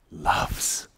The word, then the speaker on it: LUFS: 21 lfs not DB lufs yeah don't confuse that so lfs is basically our new our new unit we are talking about and in in the English language it's very nice because you can pronounce it loves you know and we